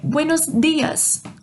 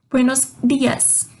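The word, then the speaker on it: buenos días: Buenos dias. Buenos dias. Então, o meu D não tem o mesmo som que em português.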